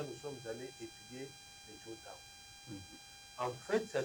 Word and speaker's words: Juncao: parce que là, nous sommes allés étudier les Juntao. En fait, ça s'écrit Junkao. Junkao. Oui, mais ça se prononce Juntao.